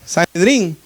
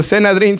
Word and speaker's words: sanedrín: Sanedrín, si es que lo estoy diciendo correctamente, porque a veces digo senadrín, sanedrín es sanedrín, ¿verdad? Lo he estado pronunciando mal, creo yo, hermanos.